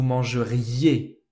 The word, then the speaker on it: mangeriez: Vous mangerez, vous mangeriez. One more time. nous mangerons, nous mangerions. Vous mangerez, vous mangeriez.